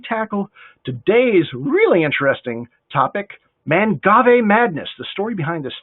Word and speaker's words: Mangave: to learn more about mangave uh i've learned two things so far how to pronounce it it's not man gave unless you're in europe and we'll talk more